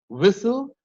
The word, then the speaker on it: whistle: And if a word ends with S-T-L-E, like castle, hustle, whistle, the H is also silent in whistle.